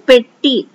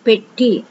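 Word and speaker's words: பெட்டி: in tamil petty petty see the pronunciation petty pay eat tea petty this is a perfect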